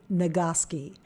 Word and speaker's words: Nagoski: the book Come As You Are by Emily nagoski that's spelled n-a-g-o-s-k-i it's a great book that talks